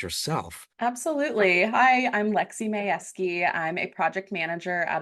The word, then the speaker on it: Mayewski: Mayewski? Wow, I It's just butchered that. Mayewski. Mayewski.